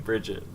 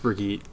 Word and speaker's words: Brigitte: When you said Brigitte, did you mean Brigitte or did you mean Bridget? No, I thought it was Brigitte, Bridget. right? No, it's BRI. What is it? What is It's pronounced Brigitte.